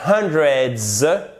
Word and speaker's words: hundreds: There were hundreds of people, et ça se prononce comme un Z, et there were 200 people.